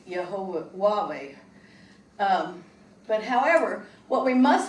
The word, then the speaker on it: YHWH: And in fact, in Hebrew, you're not to speak the YHWH, which is pronounced Yehovah, out loud, because they felt they may prevent further revelation from God.